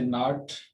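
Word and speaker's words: know: Knife और इसी तरह से नाट, नो, इन सब में जो के है वो साकिन रहेगी।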